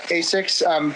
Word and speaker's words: Asics: Right now, I'm running the Asics Kayano, but how do you pronounce it?